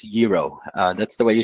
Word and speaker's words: gyro: food of Greece you know and it's not gyro its gyro and that's the way you should pronounce it it's very different from the ones